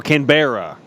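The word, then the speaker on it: Canberra: know why I know that Petra cor saying pronounce it canra now there you go CRA cbera so canbera C I tried I tried Petra cor I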